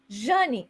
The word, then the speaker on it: Jane: too because into 2000 everybody called me Johnny that is how my name is pronounced in Portuguese and then from 2001